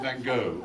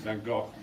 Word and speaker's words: Van Gogh: How do you pronounce it Van Gogh? And we pronounce it Van Gogh. In fact, it's Van Gogh. His name should be pronounced. I suppose we've just decided on a wrong pronunciation.